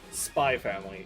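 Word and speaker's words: Spy × Family: I don't Spy Family. It's called that. The X is silent.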